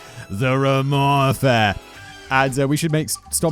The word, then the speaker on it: Romand: You just throw that D away and be like, Ramon, the Ramon Affair.